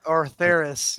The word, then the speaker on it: Ortharis: As I'm sure you are aware of the events that happen in, how do you pronounce it? Orthus? Orthos? Ortharis, yeah. Orther.